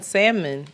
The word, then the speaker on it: salmon: I think the L in salmon not being pronounced is anti-black.